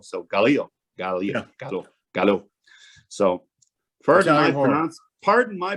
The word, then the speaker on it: giallo: argallo and uh i had to look up pronunciation because for years i've been calling it galileo and i actually listened to and again don't